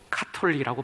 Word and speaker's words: 가톨릭: 본래 영어로도 캐톨릭입니다. 키읔 발음입니다. 헬라어로도 카톨리코스입니다. 키읔 발음입니다. 그런데 카톨릭 사람들은 가나다 순으로 하면 저 뒤에 가기 때문에 자차 파타카 하가 되니까 저마라를 빼고 가톨릭으로 바꿨어요. 근데 이게 원어하고도 맞지 않기 때문에 저는 꼭 카톨릭이라고 발음합니다. 제 이 마음을 이해해 주시겠습니까?